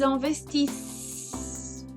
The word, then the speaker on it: investissent: Ils investissent. Lembra a conjugação do plural? Tem dois S. Então, isso já dá o som diferente. Investir, investissent. Eu vou ter que pronunciar esses dois S's.